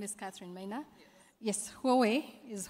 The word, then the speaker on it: Huawei: tell us your name and how do we pronounce Huawei my name is Katherine Maya yes Huawei is Huawei okay all right Katherine um what should we